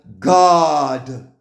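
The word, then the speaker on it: גד: Gad, phonetic spelling god.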